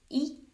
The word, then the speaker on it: y: to say and yep that one letter it's pronounced e and it means and so if you think